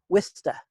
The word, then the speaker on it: Worcester: just outside of Boston correct yeah yeah exactly Worcester Massachusetts I've been I've been told by the old-timers I'm supposed to call it whist it's spelled wor c est ER but I'm supposed